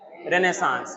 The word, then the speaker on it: Renaissance: रेनेसांस, इसका pronunciation होता है रेनेसांस।